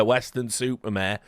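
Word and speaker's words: Weston-super-Mare: nightmare he had a western supermare but yeah Western super mayare is a place and yes it is pronounced exactly like that we've got labor they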